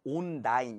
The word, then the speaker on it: online: Online이라고 돼 있는데 이 부분도 그냥 online 이렇게 하는 게 아니라 online 거의 N이 발음 안 되는 식으로 해볼게요.